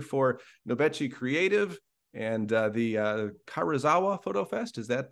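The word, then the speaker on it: Karuizawa: He is the creative director for Nobechi Creative and the Karazawa Photo Fest. Is that pronunciation correct?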